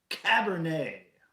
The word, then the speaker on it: Cabernet: make sure I'm saying it right this time Cabernet a fine Woodbridge Cabernet cheers to you cardinal